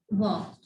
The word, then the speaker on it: walk: In the first one sentence, look at the word walk. Okay? Here L is silent.